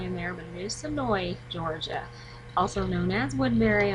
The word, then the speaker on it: Senoia: there and I did kind of mention the name wrong a little bit of the town in there but it is sooi Georgia also known as Woodburry on The Walking